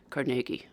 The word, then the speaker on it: Carnegie: He would have pronounced it Cargi.